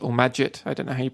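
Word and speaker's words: Magit: plugin for Emacs called maggot or majid I didn't hate pronounce it it's like magic but with the T instead of a C and and those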